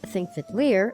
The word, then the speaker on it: Þingvellir: Þingvellir National Park A designated UNESCO world heritage site, Þingvellir, which is pronounced "Thingvellir" is one of the most beautiful and most